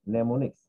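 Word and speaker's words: mnemonics: Of letters rather than binary number, sometimes called নেমোনিক্স। এটা এটা এটা টার্মটা এমটা এখানে উচ্চারণ হবে না, উচ্চারণ হবে নেমোনিক্স।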